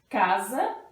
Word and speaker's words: casa: palavrinha é em casa casa se escreve com s mas é o som de z certo então casa e